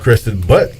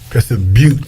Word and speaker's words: Crested Butte: It's not called Crested Butt. I thought that's what it's called. Crested Butte. Oh, my bad. You say tomato, I say tomato. Enjoy your trip. Let me guess, it's spelled B-U-T-T-E? The E silent, Tony. It's Butte.